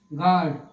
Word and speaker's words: guard: अगला कॉन्सेप्ट देखते हैं, एग्जाम्पल GUARD, क्या हो गया? गार्ड।